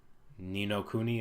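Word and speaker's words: Ni no Kuni: Nino Kunai 2, Revenant Kingdom. Nino Kuni, is that how it's pronounced?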